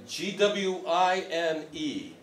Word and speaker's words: gwine: G-W-I-N-E. Go-win. Somehow it's supposed to be phonetically spelled, and it's like it's gwine, and it's like, really, it's probably going.